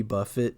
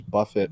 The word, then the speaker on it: Buffett: what's fucking crazy is that I bet they're going to merge like Joe Crab Shack and all the Jimmy Buffett places together and You think create so?